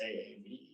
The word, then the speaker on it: Aave: okay so we will look at uh overs pronounced aave it is a borrowing and lending market so